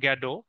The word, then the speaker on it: Godot: চার নাম্বারটা পড়বো দেখো এটা এটাতে সঠিক ভাবে উচ্চারণ হচ্ছে ওয়েটিং ফর গ্যাডো বাট আমরা জানি গ্যাডো বললে অনেক সময় অনেকেই বানান ভুল করবে এজন্য আমরা গডতি বলবো আমাদের জীবনেও এটা আর লাগবে না হ্যাঁ